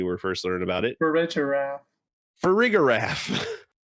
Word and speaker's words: Farigiraf: Farigiraf. Farigiraf. See, I go with the G instead of the J. Farigiraf.